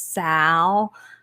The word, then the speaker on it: Sal: But we are from the deep South, and growing up in Mississippi, his name Sal has 2 syllables. It's Sal Mm-hmm.